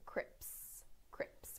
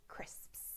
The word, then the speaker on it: crisps: a lot of people mispronouncing them as Crips Crips when they should be crisps so here is the